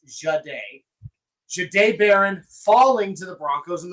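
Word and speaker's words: Jahdae Barron: Not a single mock, not a single mock from anybody ever had Jade Baron, and that's how it is pronounced, by the way. It's Jade. Jade Baron falling to the Broncos and the Broncos selecting him.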